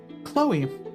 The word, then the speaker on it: Chloe: chloes we do um chloe is one of those names also that it's spelled really weird that sometimes just doesn't register in my head o c-h-l-o-e it's like the chuck leo or leah chloe you gotta love you